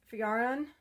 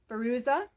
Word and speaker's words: Feruza: And this is Fayaron. I pronounced it wrong. My own doll, I pronounced wrong. Feruza.